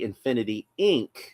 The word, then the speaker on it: Infinity Inc.: So, uh, if you were to pronounce it phonetically, you would say Infinity Inc., but I always wind up pronouncing the whole word. I was always say Infinity Incorporated.